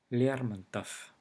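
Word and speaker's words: Лермонтов: For example, Lermontov. It ends with v, however it's pronounced f.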